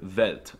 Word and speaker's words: Welt: For some reason, they pronounce the W's with a V sound, like in the word Welt, and they pronounce the